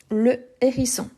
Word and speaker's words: hérisson: Et c'est un H aspiré. Le hérisson. Le hérisson.